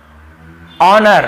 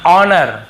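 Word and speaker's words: honour: को नहीं पढ़ना है देखिए ओनर हम इसे क्या पढ़ते हैं ओनर ठीक है ऑनर नहीं पढ़ते हैं ह नहीं पढ़ना है ऑनेस्ट बहुत से लोग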